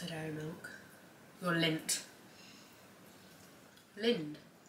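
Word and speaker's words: Lindt: Lind. Linter. Lint. Why there's a D? You must have to pronounce the D.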